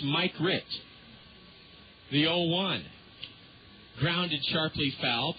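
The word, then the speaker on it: Mikrut: You would think it's pronounced Mikrit, but it's Mike Rit.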